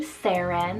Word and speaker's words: Seren: names here next so this is the name sarin spell s-e-r-e-n sarin it's welsh turkish and polish